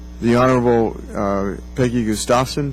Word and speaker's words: Gustafson: the Honorable Peggy Gustafson. Did I pronounce it right? It's Gustafson, Mr. Chairman. Gustafson? Yes. Okay, close.